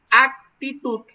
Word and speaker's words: actitud: que en el español cuando nosotros pronunciamos de manera correcta una es aptitud aptitud esa se refiere al hecho de tener una capacidad para hacer algo y actitud ven que no coloco los labios juntos sino actitud esa es con